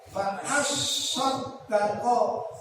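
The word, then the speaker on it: فَأَصَّدَّقَ: Fa'as sodako, kalimatnya sodako, tapi sodnya diberi syiddah. Fa'as sodako, aku akan sedekah benar-benar. Yang banyak benar-benar. Rumahku akan saya jual, akan sedekahkan semuanya. Gitu. Sampai begitu. Itu kalimat as-sodaqah. Sodnya itu ada sidangnya. Kalau bacanya as-sodaqah. Benar-benar.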